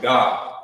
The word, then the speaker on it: Gad: 12 tribes of Israel you'll write their name like this Gad but in ancient Hebrew remember you will pronounce it you were pronounce it God in in the ancient